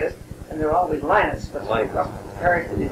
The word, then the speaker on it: Linnet: and there were always Linnets. But the parish that he's in now and the parish before, we've been calling him Father Linnet. Just think of a line on the page.